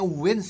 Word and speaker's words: w-inds: Sekarang gue akan react ini yang nyanyi WNs, bacanya Wins ya guys ya.